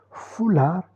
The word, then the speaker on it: foulard: Le sport consonne finale prononcé, foulard consoonne finale non prononcé.